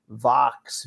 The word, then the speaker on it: Vaux: I think it's probably pronounced Vox, VAUX.